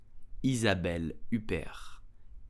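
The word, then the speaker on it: Isabelle Huppert: do you pronounce your name correctly you will pronounce it Isabel Uber is a value pair Isabel Uber is did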